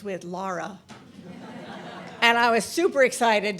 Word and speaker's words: Lara: meet your minister, Reverend Tara, is because it rhymes with Laura.